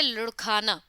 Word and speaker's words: लुढ़काना: क्षमा कीजिए, यहाँ जो शब्द हम पढ़ रहे हैं, उसका सही उच्चारण 'लुधकाना' है, जिसका अर्थ है लुढ़कना, या लुढ़क कर दूर जाना।